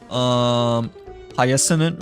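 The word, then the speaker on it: Hyacine: Well, wait, how do you pronounce the name again? Because we like just finished watching the live stream like earlier, but I think she's pronounced as Hyacinth, right, instead, right?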